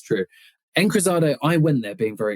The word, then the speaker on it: Encruzado: Encruzado. Should I be pronouncing it differently? No, that was perfect pronunciation. I think that was bang on.